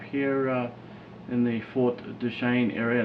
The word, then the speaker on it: Duchesne: the ute tribe here uh in the fort duchesne area it's duchesne right yes yes you gotta get the pronunciation right you know i am can you